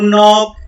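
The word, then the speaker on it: knock: टू नॉक, यहाँ पर के साइलेंट है इसलिए नॉक इसको पढ़ा जाएगा।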